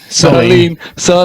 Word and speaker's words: Solene: wondering how it is you pronounce it. What are we talking about? Solene? Soline. Soline.